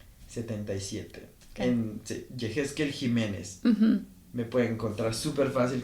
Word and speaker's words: Yejezkel: que es medio complicado es Ah jekel 77 se escribe y e J E Z K e l 77 jequel Jiménez me pueden encontrar superfácil como jequel Jiménez